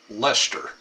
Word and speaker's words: Leicester: Yes, it's pronounced Leicester.